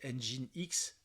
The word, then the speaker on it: Nginx: à NGX alors alors normalement on doit le prononcer engine x hein donc lui aussi